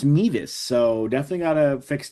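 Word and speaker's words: Mevis: looks like they're going to try to get Memphis in range. By the way, I found out it's pronounced Meas. So, definitely got to fix that. And I keep saying Memphis myself, so it's pronounced Meas.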